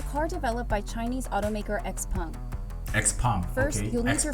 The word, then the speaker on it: Xpeng: to say Xpeng, I don't know, so it's Xpeng. Okay, Xpeng. I will pronounce it the correct way from now on, Xpeng.